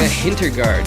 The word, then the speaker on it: Hintergardt: I'm joined today with Hintergardt. Did I pull that off right? Is that a good way to pronounce that, or did I mess it up?